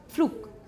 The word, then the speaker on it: Flug: They'll write BDG, but actually they pronounce PDK.